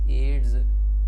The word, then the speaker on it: AIDS: इसी तरह से AIDS एड्स, इसे भी हम AIDS नहीं बोलते, हम एड्स बोलते हैं।